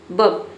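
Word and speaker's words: burp: Knee pain डकार लेना बब यहां पे ब आपको जो है आर को प्रोनाउंस नहीं करना होता है इसे सिर्फ हम बोलते हैं बब।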